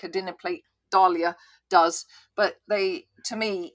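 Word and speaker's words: dahlia: And Dalia does bring up the pronunciation. I prefer Dalia myself.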